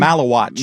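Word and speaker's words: Maluach: Malawatch.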